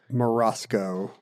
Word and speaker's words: maraschino: And obviously our word maraschino comes from Maraschino. Comes from Maraschino. In fact, do you know if you look it up in the dictionary, Webster still prefers you say it maraschino? Maraschino cherry. With the hard C.